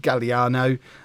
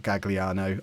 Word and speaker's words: Galliano: and Taggart Hermes and Galliano I'm told that's how you say his name not gagliano I could be wrong Paulo Sofia and